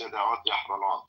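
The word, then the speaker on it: ידיעות אחרונות: Daniel, no, I assure you, it's Yeda'ot Yahronot. If you can't pronounce it, that doesn't mean it changed. It simply means you failed to pronounce the Semitic letters because you're not a Semite.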